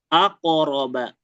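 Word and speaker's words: أقرب: Coba langsung aqroba. Aqroba langsung aq aqroba. Iya ya. Jadi jangan dikasih jeda ya karena dia tadi masuknya yang ini sukun biasa.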